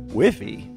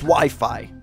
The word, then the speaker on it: Wi-Fi: game do I want to go into next wiffy wifey it's actually pronounced Wi-Fi Ralph yeah that's what I said and Wi-Fi